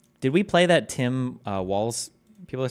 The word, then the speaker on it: Walz: Did we play that Tim Walz? People are saying, I'm saying his name wrong. It's Walz and not Waltz.